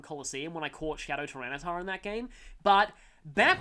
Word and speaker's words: Tyranitar: not very effective on Tyranitar, or as I called it as a kid, Tyranator. I still wish that was the official pronunciation, because that would be so cool.